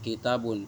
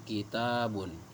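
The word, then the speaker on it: كتاب: Kita bacanya pas lafadz kita dibaca panjang, jangan dibaca kitabun tapi kitabun.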